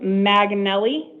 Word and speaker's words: McNally: It's pronounced Maganelli. Yeah, Maganelli. Maganelli.